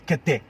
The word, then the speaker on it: Kente: Kente? Kente. Kente. Kente. So Kente. if you want to pronounce it in tree, it's Kete. Oh, Kete.